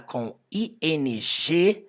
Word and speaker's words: coming: Hit the ground Running uma coisa importante para você lembrar toda e qualquer palavra que termina com ing literalmente qualquer palavra no inglês que você for ver que tem ing você vai perceber que a letra g nunca é pronunciada então não falo coming